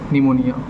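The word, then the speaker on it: pneumonia: तो authors father was suffering from निमोनिया। ठीक है, पी साइलेंट रहता है यहाँ पर।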